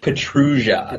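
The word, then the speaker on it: Pietrusza: I was pronouncing his last name wrong. Petrugia.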